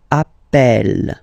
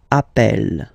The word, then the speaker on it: appelle: So when you get this E vowel, and then you get a double consonant, and well, they are the same, then it does change the pronunciation of E.